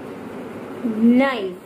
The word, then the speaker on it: knife: We are not pronouncing K.